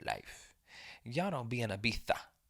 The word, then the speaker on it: Ibiza: Y'all don't be in Ibiza. Or wait, what is it? Ibiza. Ibiza. Ibiza. That's what I was told how it's pronounced. Ibiza.